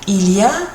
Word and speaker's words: il y a: Il, like an eel, il, and then ia, like an ear.